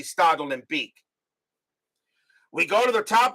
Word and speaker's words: Stade Olympique: I found I mean I was pronouncing the first time I was pronouncing study olympique was study Olympic that's how I was doing it until I realized it's supposed to be startled and Beak we go to the